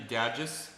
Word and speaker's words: Dagis: Like I mispronounce it, but it's actually Dagis.